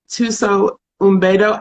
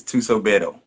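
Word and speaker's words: Thuso Mbedu: So your work last week with Tuso Umbedo, am I saying her name right? Tuso Umbedo? I don't think you pronounced the M. I think it's Tuso Bedo.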